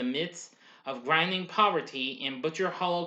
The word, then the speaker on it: Butcher Hollow: of grinding poverty in butcher hollow kentucky pronounced by locals as butcher holler in 1948 at the